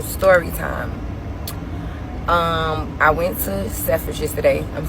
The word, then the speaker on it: Selfridges: I went to Selfridges today.